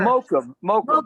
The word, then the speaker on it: Mokum: They just say, how do you pronounce it, Shep? How do they say it? Makom? Mokum? Whatever. Mokum.